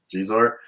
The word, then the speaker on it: Xizor: Xizor Xizor.